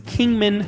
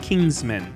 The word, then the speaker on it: Kingman: All right, so first off, the correct way to pronounce the town I'm in is Kingman, not Kingsman.